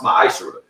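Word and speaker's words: מעשר: In the book of Malachi, chapter 3, verse 8 through 10, means 10th in Hebrew, and it's pronounced ma'ashra.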